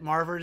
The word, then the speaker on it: Marvard: Marvard is good. The S is silent.